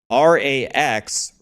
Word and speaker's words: Rax: actually saying right but the real way to say my name is Rax Rax was my clan